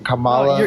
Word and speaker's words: Kamala: has never been what how do you say Kamala I can't even say name Kamala you said it right bro Kamala oh the first time I said it wrong I didn't WR know